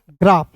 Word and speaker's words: graph: इसी प्रकार देखिए GRAPH, तो GR का ग्र होता है, ए है तो इसका उच्चारण आ के रूप में, PH का प हो जाएगा। GRAPH ग्राफ, ग्राफ नहीं पढ़ेंगे, इसे पढ़ेंगे ग्राफ, ठीक है।